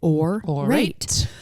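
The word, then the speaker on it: Aurate: you know you guys or rate spelt aur ates and you pronounce it or alright it's fine jewelry made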